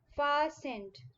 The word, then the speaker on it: fastened: hanging on the peg fastened t is silent in this word far sent pasand means fixed you